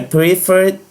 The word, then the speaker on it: prefer: Então, I prefer the blue shoes. Eu preferi os sapatos azuis. Aqui ele já está no passado. Prefer. A última sílaba, for, é tônica.